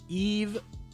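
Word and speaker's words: Yves: these other big guys yis pronounced Eve Eve Mei okay I appreciate that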